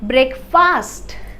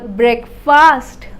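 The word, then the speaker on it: breakfast: time will you have ब्रेकफास्ट what time will you have ब्रेक फास्ट ब्रेक फास्ट गलत pronunciation है आप इसको pronounce करें ब्रेकफास्ट ब्रेकफास्ट तो अगर आपके घर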